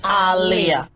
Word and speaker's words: Aaliyah: clear in real life how her name was pronounced like Muhammad Aliyah Ali and her mom are